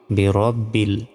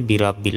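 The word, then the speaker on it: بِرَبِّ: রব বা লামজের বিল বিরব্বিল অনেকে আমরা বলি বিরাব্বিল এটাও ভুল বিরব্বিল বলতে হবে তারপর ফা জবর ফা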